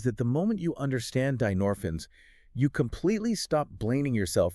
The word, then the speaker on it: dynorphins: They are a family of peptides called dinorphins, right? That is spelled d y n o r p h i ns.